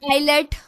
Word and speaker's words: islet: Islet or islet. It is islet. So S is silent letter here.